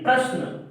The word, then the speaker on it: प्रश्न: तो आप जब उच्चारण करते हैं प्रश्न का तो ये जो रा है वो पा के बाद उच्चारित होता है। परस्न यानी प्रश्न, यानी पा के बाद रा का उच्चारण हो रहा है।